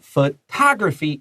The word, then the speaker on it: photography: Photography is a key word here because you all probably know photos or photographs. And 你加强第一个音节, but photography is the second syllable.